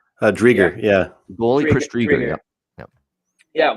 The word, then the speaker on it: Driedger: Drieger, yeah.